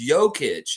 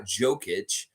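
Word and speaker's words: Jokić: was like oh crap the J is like that of course it's yokich it's not jokic so why would it be rajakovic it's rajakovic so I want to make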